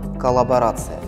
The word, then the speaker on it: коллаборация: сфере науки стало слово «коллаборация». Что же оно означает? Коллаборация пишется с двумя буквами «Л» с ударением на предпоследний слог.